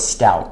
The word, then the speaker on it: Stauch: I know I've been saying her name wrong, and I've heard so many different variations of it, but we're going to go with Stauch.